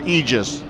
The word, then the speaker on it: Aegis: Is it Aegis or Aegis? I think both. She thinks both. See, I got it right every time. It's both.